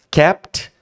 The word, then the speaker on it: kept: quiet and capt himself essa pronúncia é o seguinte ó kept to lembra da regrinha dos dois sons eu falo muito isso aqui nas aulas kept termina em t capt to começa com t Então você tira o